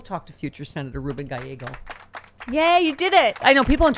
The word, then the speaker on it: Gallego: It's what I have for breakfast. This guy has an Eggo every morning. Gallego.